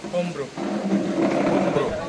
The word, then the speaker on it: hombro: Hombro. Hombro. Parang silent H siya.